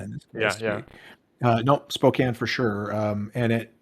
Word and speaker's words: Spokane: don't really get into uh in this yeah Spokan in this no Spokane for sure um and it it you know